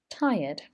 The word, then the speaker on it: tired: toilet urinating peeing peeing feeling very tired this r is silent thai ud tired they may be experiencing weight